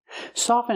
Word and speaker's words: soften: make something soft and with the word soft we pronounce the T soft but with soften we do not pronounce the T never pronounce the T in the word soften with the verb soften